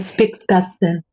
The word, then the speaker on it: Spitzkasten: Julio, se dice Spitzkasten.